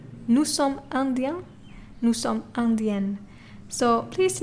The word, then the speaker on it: indiens: Nous sommes indiens, nous sommes indiennes. So please note, when it comes to plural, you add an S, but you do not pronounce the S, okay?